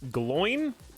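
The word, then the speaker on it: Glóin: physically there or not it's pronounced gloin like if wait what it's going who decided this did uh Jr Tolkien decide this because like I thought I thought it like rhymed with Ballin he says it in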